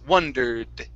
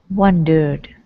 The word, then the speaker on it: wondered: Okay, make sure that D sounds. Wondered. Wondered.